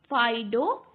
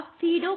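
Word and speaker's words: Phaedo: आता है आपका फाइडो फाइडो यानी या फीडो कहो या फाइडो जो भी आप इसे कह सकते हैं इसका प्रोनाउंसिएशन फिर आता है मीनो मीनो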